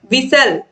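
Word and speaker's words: whistle: Question number 65 है, विच letter is are silent in the word विशल। तो दोस्तों विशल जब हम बोल रहे हैं तो विशल में एच भी साइलेंट है और टी भी साइलेंट है।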